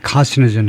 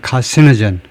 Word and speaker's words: carcinogen: as a possible human carcinogen. 보통 미국식 발음으로는 두 번째 액센트에다가 두 번째 실레벌에 액센트를 두는데요. 영국 사람들이 carcinogen 하는 사람도 있지만 미국에서는 주로 carcinogen 두 번째 실레벌에 액센트가 발암물질이죠.